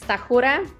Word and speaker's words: Stachura: right when I'm in America yes so it's tahura that's my last name and I'm very honored